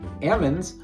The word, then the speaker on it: almonds: So the next time you hear someone say Amonds, you're hearing more than just pronunciation, right?